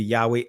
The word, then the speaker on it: Yahweh: thus said yahuwah Elohim right in the Israeli pronunciation it'll be Yahweh Elohim behold mine anger and